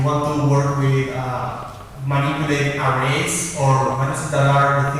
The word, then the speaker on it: rray: However, Davis, who's on my team, made this array package, like array, pronounced like array, R-R-A-Y, which kind of tries